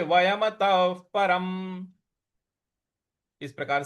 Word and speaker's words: वयमतः: तो भविष्यामस्, न चैव न भविष्यामस् सर्वे, अगला पद है सर्वे वयमतः, वयमतः त के बाद जो विसर्ग है उसका उच्चारण हमें फ ले आना है, क्योंकि उसके आगे प लिखा हुआ है।